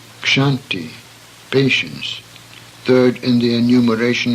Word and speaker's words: Kshanti: The next series of words illustrates the sound of ksha, which should be pronounced as in the English words buckshot, Berkshire. Kshanti, patience, third in the